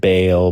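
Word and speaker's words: Baal: Maybe ba all. When we were younger, we said bale, but people go bal like that.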